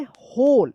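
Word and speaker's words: whole: द क्या पढ़ेंगे, होल, यहाँ पे H साइलेंट वाला, होल बिल्डिंग.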